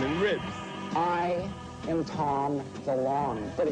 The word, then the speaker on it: DeLonge: I am Tom DeLonge, but it should be DeLonge, because I went to France, and they said, you're pronouncing it wrong, I'm all DeLonge. DeLonge. And I was like, yeah, that sounds right.